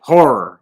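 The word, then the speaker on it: HO99O9: Horror. Okay, it's pronounced horror. He's from Newark.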